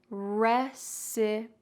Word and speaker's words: recipe: talk about pronunciation first recipe usually if there is an e at the end of a word it's silent like the previous word we talked about quite quite we don't say quite e but in this